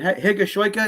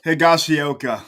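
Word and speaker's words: Higashioka: aaron hicks gleber kyle is it gashoika is that how it's pronounced higashiyoka higashiyoka thank you we call him the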